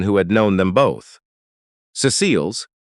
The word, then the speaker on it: Cecile: Cecile's, with the accent on the first syllable the way she had always insisted on.